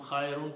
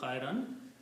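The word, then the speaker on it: خيرا: The sound only changes from khayrun to khayran because this is a noun, and when noun comes after the verb, it changes to fathas, two dhammas into two fathas.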